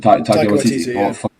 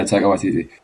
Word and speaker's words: Taika Waititi: It's just the I don't know how to pronounce his name. What's it? Taika Waititi. Yeah, Taika Waititi.